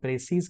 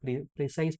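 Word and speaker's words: precise: इसको आप प्रसीज कहिए या प्रेसाइज तो नहीं कहना है लेकिन प्रसे या प्रसीज आप कह सकते लास्ट टाइम किसी ने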